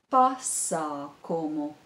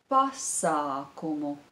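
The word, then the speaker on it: pasākums: or event Parsa como pasa como the stress is on the first syllable pasa como I'll repeat it pasa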